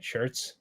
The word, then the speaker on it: Schertz: Schertz?